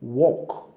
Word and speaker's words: walk: Walk. Walk. People pronounce walk as work. Walk. I'm walking to say I'm walking 2 miles tomorrow. While work is work.